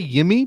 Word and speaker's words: Yimi: jersey said achara you want him to say yimi but it's not yemi by the way i